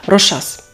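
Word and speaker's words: Rochas: Це прекрасні бренди, американський бренд Елізабет Тейлор, який заснувала сама Елізабет Тейлор, прекрасна акторка, та історичний французький бренд Рошас. І так, саме так треба вимовляти. Я навіть подивилася французькі відео.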